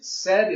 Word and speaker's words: said: Because say is no longer in, said is no longer an A sound. It's actually a short E sound.